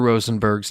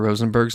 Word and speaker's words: Rosenberg: how to pronounce Mr rosenberg's name so now I'm going to play a sound clip for you which is from the German tongue exactly how to pronounce Mr rosenberg's name so let's all try